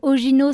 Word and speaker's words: Ogino: Donc Ogino, ça s'écrit comme ça se prononce, O-G-I-N-O, que vous pouvez encore venir écouter donc soit en Suisse, soit à Chamonix.